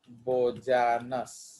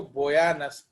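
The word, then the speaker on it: Bojanus: Excretion bye ऑर्गन्स ऑफ बोजानस, actually इसको बोयानस pronounce किया जाता है।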